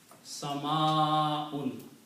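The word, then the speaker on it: سماء: It's the rule of tajweed that whenever you have a alif before hamza, in this case, then you have to pronounce this alif longer. Sama'un. Like 6 times is stretching.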